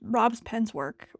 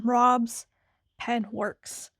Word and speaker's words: Rob's Pen Works: you're wondering what is that, this is from Rob's Pen's work. Rob's Pen. Oh, I just butchered your name, Rob. I'm sorry. Rob's Pen's pen work. Hold, please. Okay, this is from Rob's Pen Works.